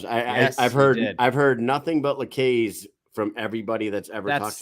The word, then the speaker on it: LaCaze: As he was talking, he said LaCaze. LaCaze. I heard that. So from now on, it's LaCaze. LaCaze. He said LaCaze. Yes, I've heard nothing but LaCaze from everybody that's ever talked about him.